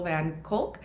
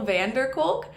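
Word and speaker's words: van der Kolk: book the body keeps the score by Bessel van cul I actually said it wrong in the first episode it's vessel Vander culk and I just said van cul it's Vander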